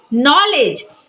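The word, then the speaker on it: knowledge: तो क्या पढ़ेंगे नाइफ नॉलेज नॉलेज में क्या पढ़ते हैं नॉलेज ना कि का नॉलेज क्यों क्योंकि के जो है वो एन से पहले आया है तो के को नहीं पढ़ेंगे के सेलेट हो जाएगा तो क्या पढ़ेंगे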